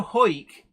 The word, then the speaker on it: Howick: me go oh there's that one I know hoik is pronounced is written Howick h-a-w-i-c-k but it's pronounced